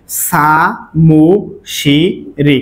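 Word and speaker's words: 사무실이: এখন উচ্চারণটা কি হয়? সা মু শি রি, কারণ এই রি উল্টে এখানে গেলে কি হবে? র উচ্চারিত হবে।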